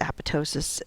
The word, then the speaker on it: apoptosis: where we talk about apoptosis and cell survival so what is apoptosis and you may have heard it referred to as apotosis it's it's just a regional difference in how you pronounce it um apoptosis is known